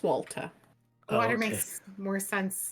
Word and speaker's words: Walter: Unless it's pronounced water. I see. It is not. Water. It is Walter.